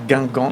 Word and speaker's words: Guingamp: Me este estallo me hace mucho pensar en el de Gangong.